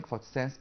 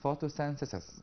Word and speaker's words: photosynthesis: plants produce oxygen during photosense process because plants produce oxygen during photosynthesis process or photosynthesis process as you said mysteriously in details the good pronunciation of this process is photosynthesis okay yeah mixed photosensors okay